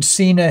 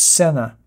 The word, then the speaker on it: Sena: I've been pronouncing Sena headsets for 10 years, and now I find out it's Sena.